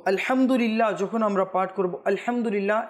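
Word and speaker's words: الحمد لله: আমরা পাঠ করবো আলহামদুলিল্লাহ এখানে মানে হচ্ছে হায় হুত্তি হা যেটা হলকের মধ্যখান থেকে উচ্চারণ হয় উচ্চারণ হয় আলহামদুলিল্লাহ এখন যদি কেউ আলহাম পড়ে তবে এটা অর্থ শুদ্ধ হবে না শুদ্ধ হবে না অর্থ চেঞ্জ হয়ে যাবে তো এটার প্রতি আমাদের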